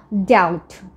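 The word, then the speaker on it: doubt: থেকে আমরা বলবো ডেথ তারপর আছে ডাউট সো ডাউট মানে কি কোন কিছু নিয়ে কোন সন্দেহ থাকা দ্বিধা থাকা সো এই যে বি টা আছে এটা সাইলেন্ট এটাকে বাদ দিয়ে আমরা বলবো ডাউট ডাউট then we have dump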